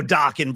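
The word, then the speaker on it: Dokken: And again, don't get confused. Dawan rhymes with rocking, Tony.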